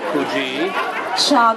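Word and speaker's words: Kujichagulia: for ourselves and our families even his name Ki chaulia means self-determination the second principle of kza can you say his name for me say kui kui chulia chulia kui chulia kui chulia yeah that one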